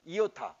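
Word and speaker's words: ἰῶτα: 비슷한데 위에 종이 없어 점이 없어 아 그래서 이오타 그리고 이름이 2호 타야 이오타 그래서 다르면 몸인데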